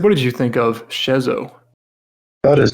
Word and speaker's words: Schezo: to say his first name, and it is Schezo, so I'm not Schezo posting during this podcast.